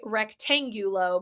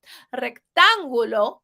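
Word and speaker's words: rectángulo: English rectangular pretty easy right just don't say rectangular because that sounds awful the U says ooh in Spanish like ooh shiny rectangulo is a rectangle once again we see that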